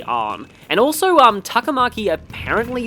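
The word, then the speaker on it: 杏: first came out like the kanji and her name a lot of people thought that it may have been like pronounced anzu uh but no it was actually arm and also um takamaki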